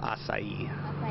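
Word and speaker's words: açaí: to how the heck to say it it's pronounced acai okay and it has a lot of benefits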